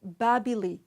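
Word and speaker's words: Bābili: head hand bread etc in Akkadian the word Babylon is pronounced babbling this name was usually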